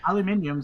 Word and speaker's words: aluminium: I mean, Okay, you see, so just in be this like me case- and say aluminium sometimes and aluminum other Listen, times.